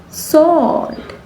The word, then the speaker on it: sword: It's sword.